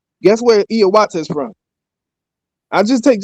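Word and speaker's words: Hiawatha: So, if you ever heard of a man named Hayawata, it's actually pronounced Iawata, right?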